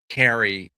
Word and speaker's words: Cary: I know I pronounce it Carrie because I'm from Chicago originally.